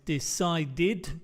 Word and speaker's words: decided: Recuerda, no se va a agregar otra sílaba si el verbo no termina en un t como aquí, como visit o un d. Recuerda ese es el sonido. So, es decided con dos sílabas o visited con dos